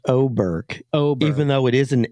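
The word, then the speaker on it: Åberg: On the 18th, which by the way is pronounced Oberg.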